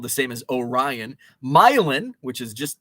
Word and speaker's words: Milan: the same as orion myelin which is just not far from orient myelin is spelled like milan what else what other